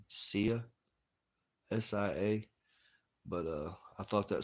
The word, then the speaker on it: Sia: Sia, SIA.